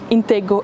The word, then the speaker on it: Intego: It's pronounced with a silent C, but as Dutch people would pronounce it, it's Intego Advertising.